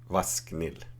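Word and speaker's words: ВАСХНИЛ: Vasknil, if you pronounce it.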